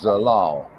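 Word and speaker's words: Zelal: Yeah, her name is spelled Z-E-L-A-L. Z-E-L. Okay, wait a minute. Okay, Z-E-L-A-L. Z-E-L. Yeah. Zalal. Zalmi. Yes, Zalal.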